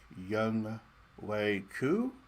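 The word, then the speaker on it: Younghoe Koo: mahomes revenge tour uh young way coo i think is how you say the name of my kicker i remember the year he came out a couple years ago and i i drafted him everywhere because his name is spelled young ho um and i just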